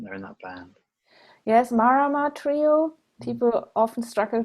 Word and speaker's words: Marama: Yes, Marama Trio. Mm. People often struggle to pronounce it. Marama Trio. Marama is a word from the Maori language, and it means moon.